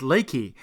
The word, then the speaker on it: Leakey: leaky somehow seem funny however leaky is actually pronounced Leakey and in this hill country has apparently been